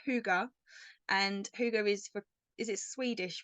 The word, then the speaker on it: Hygge: us knew how to pronounce it, because it is spelt like that, Hygge. So we were calling it Higgy and all sorts of different names, but it's Huga, and Huga is it Swedish for cozy, so